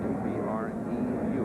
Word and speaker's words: Abreu: A-B-R-E-U. He's from Venezuela. He pronounces it Abreu.